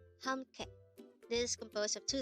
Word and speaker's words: 함께: 함께. 함께. This is composed of two syllables. The first syllable is ham, second syllable is ke.